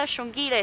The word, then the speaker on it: Xongile: Shongile is spelled Xongile, Hosanna Hosana.